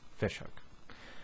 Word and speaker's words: Ghoti Hook: It was always pronounced Ghoti Hook, but if you think about it, it's Fish Hook.